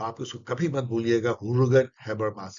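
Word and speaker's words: Jürgen: तो आप इसको कभी मत भूलिएगा, हुर्गन हैबरमास। यस, इसको जुर्गन नहीं पढ़ा जाता। मेरी प्रोनाउंसिएशन वैसे ही खराब है, लेकिन कुछ प्रोनाउंसिएशन मैंने सीखने की कोशिश की है। ह्यूर्गन हैबरमास।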